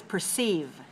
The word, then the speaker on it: perceive: the word is perceive perceive perceive has two syllables and it's stressed on the second show me how to